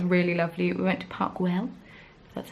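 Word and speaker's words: Park Güell: um that was really lovely we went to parkwell that's how you pronounce it um and we just I got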